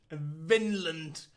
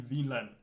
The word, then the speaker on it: Vinland: Vinland. Yes, that's the English pronunciation of it. In Danish, it would be Vinland.